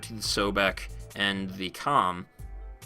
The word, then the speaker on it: Kohm: the sobec and the Comm kohm depending on how you like to pronounce it comb whatever those two weapons fire